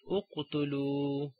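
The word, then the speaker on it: اقتلوا: If there is a dhamma, we read hamzatul wasl with a dhamma, like uqtulu, okay, and unsuru.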